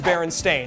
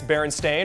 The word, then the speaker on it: Berenstain: actually okay well still it probably is Baron stain and we just have been saying it wrong forever it's like the word